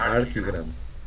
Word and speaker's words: Archigram: Yo les invito que vean, que investiguen al menos en internet, la arquitectura de Gama, se escribe Archigram, o se pronuncia Archigram.